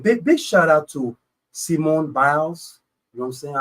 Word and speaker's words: Simone: We say Simone. Oh, y'all say Simone out here. Simone. Huh? Okay, and you say? I say Simone. Simone Biles. Bills. Simone Bills, okay?